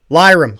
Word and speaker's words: Lirim: Lyram, gotcha. He's going by Lyram. That's what we're doing here. He's going by Lyram at the show. It's Liam with an R.